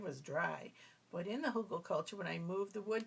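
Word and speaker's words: Hugelkultur: it was it was dry but in the hugel culture when I moved the wood chips and got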